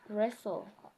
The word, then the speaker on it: wrestle: instead yeah then thereafter we have words with t l where sound is silent for example I'm wrestling cattle wrestling rest uh wrestle whistle yeah that's